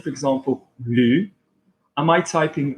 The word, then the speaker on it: lu: Yeah, if I say lu, which one are you hearing? Top mouth or monkey? So you're hearing lu, L-U, which is I read, j'ai lu.